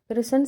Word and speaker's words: कृष्ण: जैसे कि कृष्ण शब्द है तो इसको जल्दी बोलने से या फिर इस पर ध्यान नहीं देने से इसको किशन शब्द बोला जाता है।